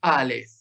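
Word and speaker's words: אלף: La Alef no suena. Antiguamente sonaba en los tiempos bíblicos, pero se fue perdiendo su sonido y hoy no se sabe cómo se pronunciaba. Es lo que, bueno, después vamos a ver, es una de las letras guturales que se pronunciaba con la garganta, pero era muy difícil de pronunciar. Y hoy no se pronuncia la Alef.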